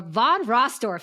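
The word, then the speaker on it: von Restorff: The von Rossdorf effect.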